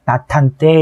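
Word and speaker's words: 낮 한때: 나탄 때도 마찬가지로 지읒은 발음상으로 디귿으로 바뀌게 되죠. 음절의 끝소리 규칙 때문에. 그래서 디귿이 히읗과 더해지게 되면 나탄 때 이런 식이 된다는 얘기고요.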